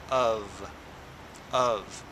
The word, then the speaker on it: of: The F sounds like a V. So you say VV. So you say of of.